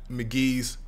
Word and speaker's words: Mk.gee: here we finally got McGee's first album pronounced McGee now McGee has you